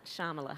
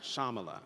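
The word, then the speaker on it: Shyamala: name of your mother shamala so the Y is silent shamala shamala yeah what was shamala go goalen goalen uhhuh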